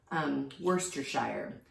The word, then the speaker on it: Worcestershire: I think it's Worcestershire. W-R-C-E, that's worse. And then stir, shire.